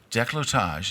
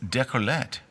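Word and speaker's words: décolletage: there it is um deage is the upper part of a woman's chest okay pronounced it wrong oh DEET is the neckline of the Garment itself okay so deage deage not de did I say deete I don't know deage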